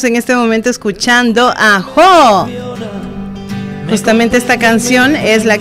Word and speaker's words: Jó: Jo con acento en la O, un músico español que